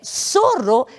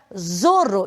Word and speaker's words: zorro: sonoridade do S então a palavra que aparece ao lado é soro onde eu não posso para lançar Zorro e sim soro soro significa raposa raposa